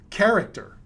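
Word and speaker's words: χαρακτήρ: you and i know it's called character it's that's exactly how it's pronounced in the greek language in in the english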